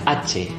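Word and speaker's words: hache: Dalam bahasa Indonesia itu huruf H. Dalam bahasa Spanyol dibacanya AC. AC.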